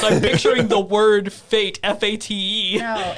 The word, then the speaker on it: Fate of the Furious: No, it is not phonetic. It is the actual word Fate of the Furious.